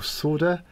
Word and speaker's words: solder: friends for my pronunciation I think you guys call it solder or solder we're in the UK we pronounce the L solder but I think you